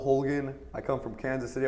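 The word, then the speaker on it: Holguin: who is and is your last name pronounced so again is it pronounced hooligan how's your name pronounced well my name is Hogan I come from Kansas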